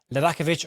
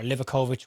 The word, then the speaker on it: Livaković: in Fenerbahçe goalkeeper Dominik Livaković or Livakovich, whichever way you want to pronounce that.